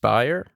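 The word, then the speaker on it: Bier: Yeah, I mean, there's this guy, Nikita, I think his last name's pronounced Bayer.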